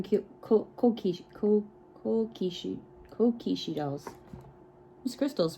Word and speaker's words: kokeshi: started calling them cake okay cool cool Kishi kokeshi dolls miss Crystal's pronunciation is not the best but you know